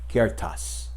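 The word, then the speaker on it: ceartas: the handle kenneth wrote kertas and i hope i didn't do violence to the gaelic c-e-a-r-t-a-s and i'm told it's pronounced kiertas translated into english kertas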